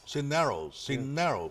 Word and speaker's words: Cisneros: Cineros. There you go. The stress is on the second syllable.